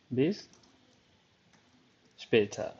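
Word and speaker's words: bis später: आप देख लें बिपेटर बिस स्पेट ज़हन में रखिए के डच जो है वो जब एंड में अक्सर आर आ रहा होता है तो उसको स्पेटा बिस स्पेटा ठीक है तो ये एक रियल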